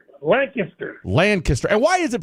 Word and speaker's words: Lancaster: Lancaster? Lancaster. And why is it pronounced that way, sir? No, not Lancaster. Lancaster. And everybody south of the Trinity says Lancaster.